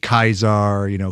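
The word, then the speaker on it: Caesar: Every C is a hard C. Kaisar, Cicero instead of Cicero, etc.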